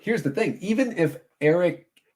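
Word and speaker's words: Erik: the thing, even if Eric, it's with a K, so you have to say it like that.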